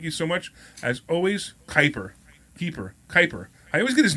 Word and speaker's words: Kuiper: I also want to thank our in-house producer, Mike Keeper. Thank you so much. As always, Kuiper. I always get his name wrong. Isn't that terrible? Mike Kuiper.